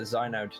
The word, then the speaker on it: Xynode: You pronounce it Xynode, not Xynode or anything else like that.